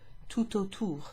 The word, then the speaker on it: tout autour: Because of the T in tout, which we wouldn't normally pronounce, because that precedes an A in autour, this is pronounced tout autour, tout autour.